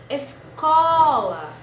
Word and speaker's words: escola: Escola. Já a escola foi a sílaba do meio, né? Escola. Escola. Então, a nossa sílaba tônica, nesse caso, vai ser có.